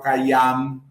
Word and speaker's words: Khayyam: É só porque você pronuncia esse A mais forte, mais pesado. Não é, a gente fala Khayyam. É a nossa tradição, é a nossa língua. Mas no árabe ele vai buscar o Khayyam.